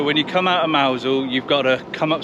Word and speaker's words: Mousehole: as well so this is mousel which is actually spelt mouse hole but yeah pronounced mausol this is